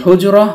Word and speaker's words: حجرة: হারাকাতুন উচ্চারিত না হলে এই গুলতাটি বাংলার হ বর্ণের উচ্চারণ দেয়, তাই হুজরা উচ্চারণ করেছি।